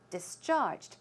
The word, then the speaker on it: discharged: go home and discharge the stress could should go on the second syllable discharged it means to let